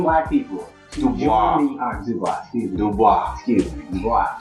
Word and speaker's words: Du Bois: Du Bois.